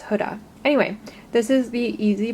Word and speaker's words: Huda: It's not Huda, it's Huda.